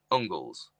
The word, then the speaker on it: Angles: If you think of Angles, used to be Engels, but it was actually pronounced Ungles.